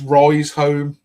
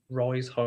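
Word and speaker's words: Riseholme: It's Rise Home. Rise Home. But it's Rise and it's home, but it's HOLME.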